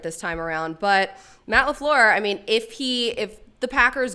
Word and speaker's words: LaFleur: thing on NFL Now about how it's 3 syllables. Everyone is pronouncing it wrong. Wait, so say it right. What is it? He said it's supposed to be LaFleur.